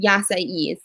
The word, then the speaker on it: yasai: the dish that i get there is called yasai y-a-s-a-i and i asked somebody how to pronounce it and that's how they say it